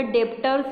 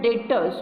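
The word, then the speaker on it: debtors: Okay, डेप्टर्स is spelling but इट is pronounce as अ डेटर्स. Okay, डेटर्स त्याचं pronunciation केलं जातं.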